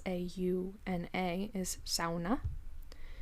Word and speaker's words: sauna: word uh s a s-a-u-n-a is sauna because they pronounce the the vowels like that so i i choose